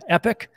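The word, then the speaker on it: epoch: they call it an epic I know it's I know it's spelled the poch but that's what Charles hoskinson calls it epic so I'll call it epic anyhow over here an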